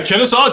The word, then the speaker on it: Kennesaw: Kevin, out of how do you pronounce it? Is that Kennesaw, Georgia? Yeah, Kennesaw, Georgia.